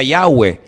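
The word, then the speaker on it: Yahweh: yot he Bad hei verdad ese nombre se pronuncia yahwe Ese es el nombre que aparece en el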